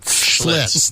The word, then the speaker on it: Schlitz: Did I pronounce that right, or is it Schlitz? Schlitz.